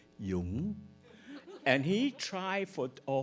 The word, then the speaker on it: Dung: And I say, "Dung."